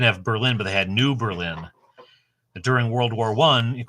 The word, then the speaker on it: New Berlin: called it New Berlin we just pronounce it differently and nobody will notice it's not New Berlin it's New Berlin S I fall in